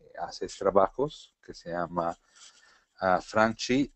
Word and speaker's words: Franchi: Franchi, se los pronunciamos a la Argentina.